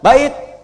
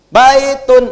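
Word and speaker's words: بيت: sama dengan begini ya bait Matikan aja bait cepat ya kemudian apaagi masjid walaupun harakat ujungnya UN ya baitun UN misalnya Jangan dibaca unnya baitun Oh enggak orang Arab gakan dengar bait masjidun masjid makanya di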